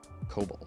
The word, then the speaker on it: COBOL: I thought it was COBOL. COLBOL. Am I wrong? COBOL programming. COBOL. Oh man, I've been saying it wrong.